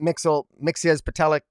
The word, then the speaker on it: Mxyzptlk: I mean, in fact, probably, I did get a kick out of the scene where there was Batmite, Mxyzptlk, that's how I pronounce it, and Wondermite, where Wondermite shows up,